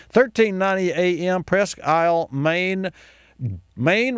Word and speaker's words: Maine: Maine rhymes with Dwayne.